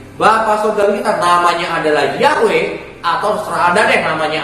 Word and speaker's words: Yahweh: Kalau nama Tuhan itu adalah Yod He Waw He, yang saya bacanya itu sama kayak orang-orang Ibrani baca ya, yaitu Yahweh.